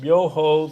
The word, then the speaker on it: Myoho: Because I want to just go through the syllables first. Myoho, the mystic or wonderful law, the universal principle of life.